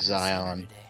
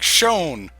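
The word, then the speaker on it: Xion: Yeah, I think I pronounced it like Zion. I probably would pronounce it like that as well. And then it was like it got to that one scene. It's like shown.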